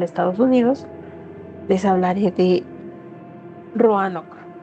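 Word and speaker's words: Roanoke: Les hablaré de Roanock, ¿cómo se pronuncie? Ranoc. Ranock, la colonia perdida y lo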